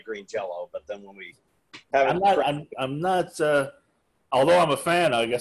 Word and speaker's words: Green Jelly: green jelly now well phonetically we still always say green jello we just write green jelly really oh cause the